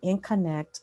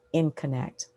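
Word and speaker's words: InConnect: I'm the founder and principal of Info in Connect Consulting, and that's pronounced In Connect.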